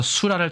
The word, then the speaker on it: 수라: 마와 같이 음역자 씁니다 왜냐면 이것이 랄이 아니라라 혹은 라로 발음되고 때문입니다 그렇기 때문에 우리나라의 자전을 살펴보면이 글자가 랄로 발음도 되지만 수라 할 때는 라로 발음한다 예라는 것을 포함한 설명도 있음을 알 수 있습니다 호하는 콜레라 있고요